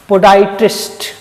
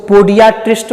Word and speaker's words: podiatrist: शब्द है PODIATRIST, पोडाइट्रिस्ट। क्या शब्द है, पोडाइट्रिस्ट। इसको पोडियाट्रिस्ट मत पढ़िएगा, प्रोनाउंसिएशन ध्यान सुनिए, क्या, पोडाइट्रिस्ट। और पोडाइट्रिस्ट क्या है, तो ये है अनदर नेम ऑफ कीरोपोडिस्ट।